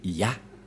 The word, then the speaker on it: Yah: La prononciation de ce terme est ceci, c'est Ya.